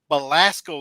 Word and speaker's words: Belasco: uh at the and let me make sure that i'm pronouncing it right because this is jaws area well not really y'all's area but just new york uh belasco theater in midtown manhattan yeah you're saying it right you're good you good